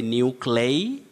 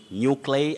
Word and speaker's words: nuclei: very tricky word that if you follow the spelling very closely you end up mispronouncing it you say nuclei nuclei nuclei don't say new clay nuclei nuclei avoid all those mispronunciations